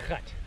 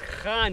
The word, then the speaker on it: gaan: No, no, it's not gat. Gat is a hole. But gaan hier aan.